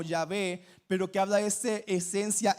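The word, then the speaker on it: Yahweh: y H W H que pronunciamos como ya ve pero que habla este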